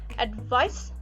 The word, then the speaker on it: advice: bit longer why because advice finishes with a sound which is a voiceless consonant and the previous vowel